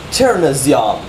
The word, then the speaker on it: chernozem: So you have chur, no. And then right after that is a zyom. Z-Y-O with a dot. That makes the A sound. And then an M. Cherna zyom.